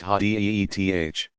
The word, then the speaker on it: hadith: This material is known collectively as hadith, sayings or traditions, pronounced hadith.